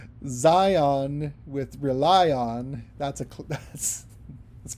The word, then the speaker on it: Zion: I know it's hard to rhyme things with Zion as well, but whom countless saints rely on rhymes with Zion. Maybe if you say it like lion, I don't know.